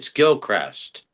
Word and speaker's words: Gilchrist: It's actually pronounced. It's Gilchrist.